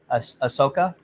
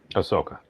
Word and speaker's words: Ahsoka: me the gal's name again I never I mispronounced it Ahsoka Ahsoka right she is not a Mary Sue because